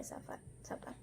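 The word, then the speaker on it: sappan: Caesalpinia savan ya, jadi PP baca P1 saja, savan.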